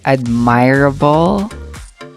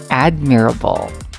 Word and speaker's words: admirable: do you pronounce it did you pronounce it as admirable okay guessing from the word admire but actually the correct pronunciation of that is admirable okay next this one